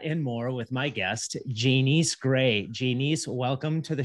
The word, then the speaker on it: Janiece: So you said Janiece, don't try. Which I have a hard time getting Janiece out of that But so it's Janiece.